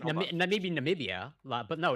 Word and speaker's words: Namibia: I have been mispronouncing it. Namibia.